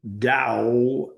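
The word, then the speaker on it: Tao: So now that Lasu is back with you today, the founder and establisher of the teachings of the Dao, which pronounced Dao as if it was spelled Dao, but it's actually spelled T AO.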